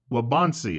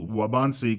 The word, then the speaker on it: Waubonsee: that area and it's called wabansi I believe is how they pronounce it WCC waubonsee Community College I guess